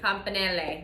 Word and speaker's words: campanelle: Campanelle. Campanelle.